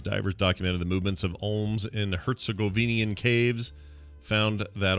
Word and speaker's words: olm: A rare Olm salamander, as soon as how you say it, OLM.